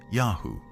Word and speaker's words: YHW: Egyptian texts say one of the places where the Shasu lived is called YHW, probably pronounced Yahu, likely the name of their patron god.